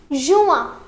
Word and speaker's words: juin: However, the pronunciation here will be juin.